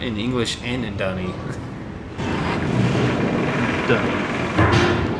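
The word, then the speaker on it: D'ni: Dunny. Dunny is how it's supposed to be pronounced, but Dunny just sounds less weird.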